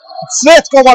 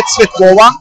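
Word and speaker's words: Цветкова: Daha doğrusu bu Bulgaristanlı değil ve telaffuzda düzelişi de Yulia Tsvetkova. Eğer Bulgar olsaydı tabii ki telaffuzda vurgu ilk eziye düşeceydi.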